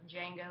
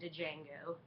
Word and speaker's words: Django: giving a review of django unchained the d is silent so don't walk around saying django uh you're going to